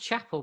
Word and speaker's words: Chapel: So, well, it's interesting you say that, because I think it's pronounced Chapel, by the way. I quite like Chappelle, though. I like you say Chappelle. I don't know. I'm pretty sure they say Nurse Chappelle in Christine Chapel, yeah.